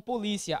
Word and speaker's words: polícia: É diferente de polícia, a sílaba tônica é a penúltima, né?